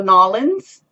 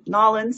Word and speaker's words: New Orleans: wedding uh down in New Orleans or nollans New Orleans I guess it depends what part of the country you're from nollans I think is how the locals say it um yeah down Louisiana